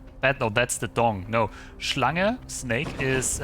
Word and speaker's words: Schlange: No, Schlange, snake, is spelled S-C-H-L-A-N-G.